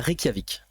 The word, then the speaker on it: Reykjavik: si on les fait dans l'ordre, il y a Reykjavik.